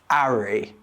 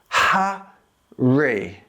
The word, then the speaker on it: Harry: In some British accents like Cockney English or Estuary English, the H is dropped completely. So instead of being Harry, it becomes Arry. Harry, Arry. But in most British accents, the H is heard loud and clear. It becomes Ha-ree.